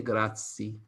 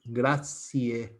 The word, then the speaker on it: grazie: it's also complicated because in Italy or in Italian, you do pronounce all the letters that you have in a word until the last one. So if many people say, oh, grazie mille, they don't say grazie. They pronounce grazie, the final E. Understand? So it's very difficult to